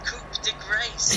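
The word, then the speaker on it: coup de grâce: "He's going for the Coupe de Grace!" I was like, have you just read it on the internet or something? It's like French, so I mean you pronounced it right.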